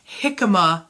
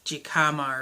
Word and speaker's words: jicama: it together and some jicama root I have to say jicama specifically because the Rumi had to tell me how to say it because I was saying jicama or something anyhow there's also a